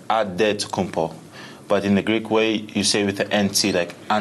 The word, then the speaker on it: Antetokounmpo: In the Greek way, you gotta say it with a D, so it's Antetokounmpo. But in the Greek way, you say it with an NT, like Antetokounmpo.